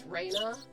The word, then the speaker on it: Rena: Uh, it's supposed to be Reina Raina. So, so you can't really notice the difference in English, but it's a subtle difference in the in the pronunciation in Japanese.